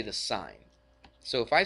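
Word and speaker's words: sine: we use the sign it's actually spelled s i NE but we just shorten it to SI n we don't say sin we say sign all right A lot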